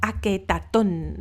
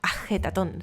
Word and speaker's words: Ajetatón: Amarna, y que llamó Aketatón, el horizonte de Atón, ¿no? Ajetatón, si queremos pronunciarlo un poco más adecuadamente.